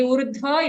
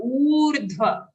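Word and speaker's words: ऊर्ध्व: Okay, don't say urdhva, it's a long u sound. Urdhva.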